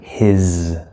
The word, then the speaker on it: his: Remember, this S here in this word is a Z sound. We spell it with an S, but it's a Z sound. His. Okay, if you say hiss, that's a different word. Spelled with two S's. That's the sound that a cat makes when it, a cat, right? That's called a hiss. Okay, so don't say it with an S. His.